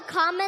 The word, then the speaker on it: Kamala: do you pronounce it first you say comma like a comma in a sentence Danny say la like la la la la la put it